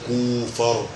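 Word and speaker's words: Kupffer: كوفر، اسمها كوفر، ما تنطقش البي يا عم الحاج، لا انا عايز اقول اتنين مشهورين قوي، كوفر سيلف الليبر، الفولار ماكروفاج.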